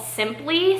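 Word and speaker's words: Sympli: But this brand is actually called Simply, so it's spelled S-Y-M-P-L-I. This is an older label from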